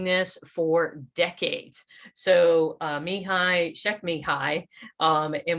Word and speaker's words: Csikszentmihalyi: So Mihai Csikszentmihalyi, and when you see his name, you would never pronounce it that way.